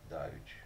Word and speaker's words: Doge: Just to clarify something, actually, someone I know actually emailed Congrevape and confirmed that it's not Doggy, which I'm really disappointed by. It is actually pronounced Doge.